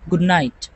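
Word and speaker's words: good night: গুড নাইট শুভ রাত্রি এখানেও গুড নাইট নেটিভরা ডি এবং এন এই দুইটা যখন একসাথে আসে তখন সাধারণত দুইটাকে সাইলেন্ট করে দেয় যেমন গুড নাইট গুড নাইট শুভরাত্রি এরপরে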